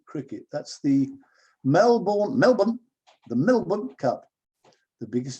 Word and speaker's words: Melbourne: In Australia, the Melbourne Cup, pronounced Melbourne, not Melbourne, Melbourne, you have to say Melbourne.